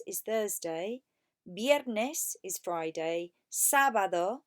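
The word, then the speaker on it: sábado: Thursday Magnus is Friday sabado with an accent on the first day Sabbath or is Saturday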